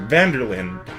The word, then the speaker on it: van der Linde: is van der Linde it's three separate words but you pronounce it like one big word van der Lyn maybe I'm alone on